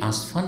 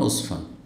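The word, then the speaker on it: عسفان: হয়েছে আমব্রেলার বুঝতে পেরেছেন কিন্তু আসলে তাদের উচ্চারণ ভুল এটা হচ্ছে মূলত জায়গাটির নাম উসমান জায়গাটির নাম হচ্ছে উসফান এখানে উসমান রয়েছে যখন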